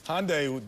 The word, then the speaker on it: Hyundai: And that's a wrap for Inside the NBA presented by Hyundai. Hyundai. Don't pronounce the Y.